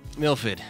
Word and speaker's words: Milford: Milford there you go like you say MILF and you say ID Milford exactly Milford Mass while the